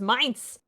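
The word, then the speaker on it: Mainz: oh Jerk Pit River says it's pronounced minds but these Germanic languages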